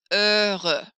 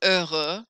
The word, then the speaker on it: heureux: So happy, the word happy is heureux, which is just the least happy sounding word there is. Heureux, like, yeah, I'm so thrilled. Heureux. But that's the word for happy in French. Heureux keeps its X for masculine plural.